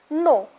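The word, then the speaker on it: know: No. Now here K is silent. When you pronounce this word, you always pronounce no. Okay, and no, that is only na and o. W is silent, K is silent.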